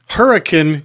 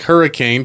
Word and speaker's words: Hurricane: Brad, with a couple of guys from Hurricane, Utah. Looks like hurricane, pronounced hurricane.